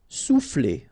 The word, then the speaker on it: souffler: Souffler. Okay, O and U will produce OU. Sou. Souffler. Attirer.